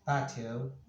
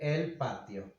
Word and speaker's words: patio: Well, in English you may say the terrace, or the Spanish word patio, but you pronounce it patio. We say el patio.